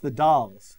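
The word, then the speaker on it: The Dalles: vote for Walla Walla it's pronounced the dolls thank you DJ Mangus all right the dolls is clearly winning right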